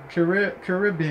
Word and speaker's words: Caribbean: It's pronounced bean. Caribbean.